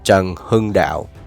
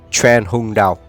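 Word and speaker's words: Trần Hưng Đạo: Okay, for those of you that can't pronounce his name, is Zheng Hung Dao. Some of you might say Tran Hung Dao.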